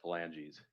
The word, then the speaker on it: phalanges: If the court needs pronunciation, it's pronounced phalanges.